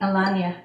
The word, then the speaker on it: Alanya: Alania, yes.